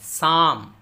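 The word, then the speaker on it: psalm: इस तरह यहाँ देखिए, यहाँ दो है, P और L दोनों साइलेंट हैं। साम, साम हम्द या मुनाजात, साम।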